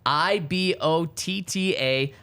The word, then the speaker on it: Ibotta: I bought so it's IBOTTA, pronounced like I bought a blank.